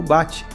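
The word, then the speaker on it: 鉢: dança cerimonial e rti que pode ser pronunciado como bate e tem o significado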